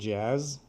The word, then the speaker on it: jazz: Hip hop, rap, jazz, And then classical it's that music, Z sound at the end, jazz.